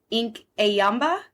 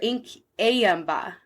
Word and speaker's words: Inkanyamba: a ink in yamba I might have pronounced that wrong but it's i n k a n y a m b a and I heard a few people pronounce it and I think it's like ink ayamba or Inc ayamba something like that but so that is